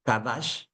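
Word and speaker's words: קָדַשׁ: la palabra santificar hermanos del hebreo kadash que es sh al final y acento en la segunda a kadash significa Santo es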